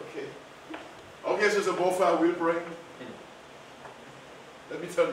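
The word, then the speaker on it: Boffah: Bofa. Who? Bofa. Bofa. Bofa. Yeah. How do you spell that?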